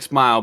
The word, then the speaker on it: Smael: It's pronounced like Smile, but it's Smael. Smael. Okay. So like Smile, but like yeah.